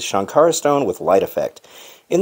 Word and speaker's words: Sankara: spelled Sankara s-a-n-k-a-r-a but in the movie they pronounce it shankara like it has an sh so I'm not sure